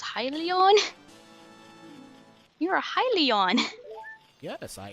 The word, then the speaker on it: Hylian: Hi, Leon. That's what one Zora kid in Breath of the Wild pronounces Hylia. He says, Hylian?